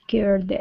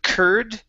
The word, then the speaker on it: cared: debt, he would have cared less about her money. Okay, very good. All right, let's go to the word cared. Give me an air sound instead of curd.